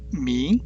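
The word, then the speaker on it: 明: 중국어로는 밍 이렇게 발음하죠.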